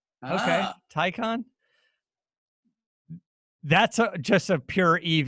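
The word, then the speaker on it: Taycan: this as well but the tycan take hand yeah rhymes with icon according to edmonds okay tycon that's just a pure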